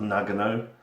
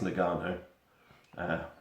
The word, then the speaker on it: Nagano: got now I think I think it's pronounced Nagano Nagano Winter Olympics 98 and I don't think it's Maga no I've only got a